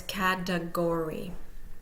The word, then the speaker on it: category: of the third syllable so the first syllable is primarily stressed the third syllable is secondarily stressed and we'll hear the schah in the final in this in the middle between those two primary and secondary stress so it's catagory please note the word